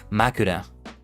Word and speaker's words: 枕: Makura.